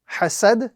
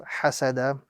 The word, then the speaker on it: حَسَد: So here we have the combination hasad instead of hasada.